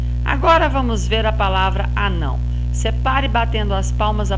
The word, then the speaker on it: anão: Sendo a penúltima sílaba, ela vai ser classificada em paroxítona. Muito bem. Agora vamos ver a palavra anão.